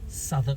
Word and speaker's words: Southwark: the wider district is southern spelt s-o-u-t-h south w-a-r-k uh walk let's pronounce southwark oh look at this